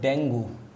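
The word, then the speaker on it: dengue: Basically हम हिंदी में लिखते हैं डेंगू। ओके, तो हिंदी में डेंगू लिखते हैं, बट इंग्लिश में अगर हम इसको प्रोनाउंस करेंगे तो ये पढ़ा जाता है डेंगी।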